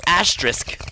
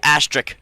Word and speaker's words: asterisk: reasons first reason Matt you pronounced asterisk wrong on multiple occasions uh I heard you say astric twice anyways um the main